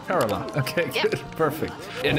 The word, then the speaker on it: Kerala: Rajasthan, do I pronounce that correctly? Yeah. Okay. Himachal Pradesh. And Tamil Nadu and Kerala? Kerala.